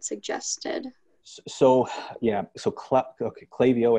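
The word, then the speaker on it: Klaviyo: so yeah so okay klavio i think is how it's pronounced sometimes people pronounce it claudio uh clavio is expensive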